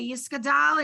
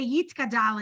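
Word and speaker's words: יתגדל: I don't know if you've ever been in Orthodox service, they say yiskadal and yiskadash. We don't. We say yitkadal and yitkadash because they're pronouncing it differently.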